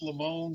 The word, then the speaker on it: Lemone: It's pronounced Lamone, so a lot of people spell it L-A, but the actual correct spelling is Lemone.